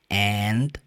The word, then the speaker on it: and: rejoice And bead rejoice and be glad sabe uma coisa que é importante ressaltar aqui and de e você raramente vai pronunciar a letra D geralmente você pronuncia Essa palavra só And rejoice and be glad